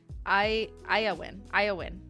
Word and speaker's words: Beyyyn: From Beyyyn, pronounced Iowin.